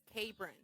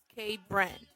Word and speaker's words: Cabron: My nephew's name is Cabron, pronounced K-Bren. And my grandma pronounces it in Spanish, which is cabron.